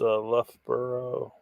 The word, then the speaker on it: Loughborough: It's pronounced Loughborough.